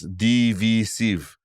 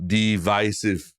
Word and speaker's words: divisive: time I'm wondering why both parents and Harish pronounced divisive as DV sieve as opposed to divisive I don't usually hear the word being pronounced